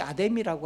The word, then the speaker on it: 아데미: 원래이 아데미라고 하는 여신는 없죠. 아르테미스 아르테미스의이 다섯 글자를 우리 100년 전에 할아버지를 번역할 때 다섯 글자 너무 길다. 아데미 이렇게 줄어버렸습니다.